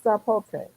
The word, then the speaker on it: sapote: Well, it is with an S, sapote. Sapote. I thought you did it with a Z. oh. Well, sometimes they pronounce that as a Z. Just depends on where the word of origin is.